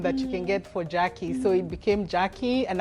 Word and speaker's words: Jaki: Actually, the spelling of my name Jaki, the way I spell it Jaki, was because in TZ they used to call me. And I was like, no, I'm not Jack. You have to change that. Mimi ni Jaki.